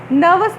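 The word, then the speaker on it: nervous: नर्वस में are silent होता है, और इसको हम ई को लंबा साउंड पढ़ेंगे।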